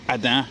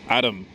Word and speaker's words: Adam: Anyway, I'm here on the corner of La Rue Adam, but actually, how it's correctly pronounced is Adam.